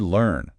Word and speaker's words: learn: Now the word learn. Learn. Feel your tongue pull back a little for that sound. L like in bird.